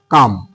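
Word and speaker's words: calm: যেমন আমি লিখলাম সি এ এল এম দেখো ককার ম কাম। এইখানে দেখো এল এর কিন্তু সাউন্ড হলো না।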